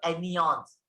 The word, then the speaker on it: एनियॉन्स: Negative ion भी बोल सकते हैं आम अल्फाज में, लेकिन थोड़ा और अच्छे वर्ड में बोलने का तो एनियॉन्स, एनी ऐसा प्रोनाउंसिएशन निकाल सकते हैं आप।